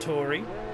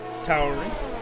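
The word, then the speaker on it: AlphaTauri: Not Tori, Tauri, because they don't have Tor as a syllable in Austria.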